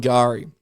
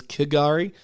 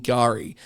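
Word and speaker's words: K'gari: suspected dingo attack on Gari In the past, I've pronounced this island as Kagari. Uh, but it's but it's um it's not Kagari.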